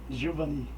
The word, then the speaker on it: Gilvani: Me tira uma dúvida, é Gilvani mesmo ou Gilvani? Gilvani. Gilvani Santos, PSTU. Perguntei isso porque alguns pronunciam Gilvani e outros pronunciam Gilvani. Como não tem acento, eu resolvi tirar a dúvida.